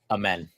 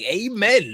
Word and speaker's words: Amen: How do you pronounce his name actually? Amen.